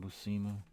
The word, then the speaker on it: Buscema: I see it as a cross between John Buscema, and it is pronounced John Buscema, I found out, and Frank Frazetta.